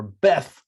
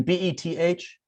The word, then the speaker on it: beth: does that come from that's the way we probably used to say it like that you know moses himself probably used to pronounce it like that nowadays we say bet or base beth you know bet